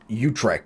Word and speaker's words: Utrecht: So I've got ourselves the Swan of Utrecht, or Utrecht, however you want to pronounce it.